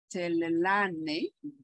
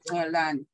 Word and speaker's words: Tlalane: Our next speaker is Tlalane. I hope I'm pronouncing right.